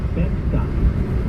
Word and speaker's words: Beckster: She also has a stage name, Beckster. That is how you say it, rhymes with Texter, Beckster.